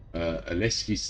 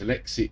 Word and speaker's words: Alexei: Aleski's third. Read it a few. Wait, I've been pronouncing his name wrong. It's Alexei.